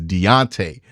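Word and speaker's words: D'Onta: I've been mispronouncing it I thought he was just Dante it's Deonte foran thank you guys for that correction those who offered it Deontay Foreman to me is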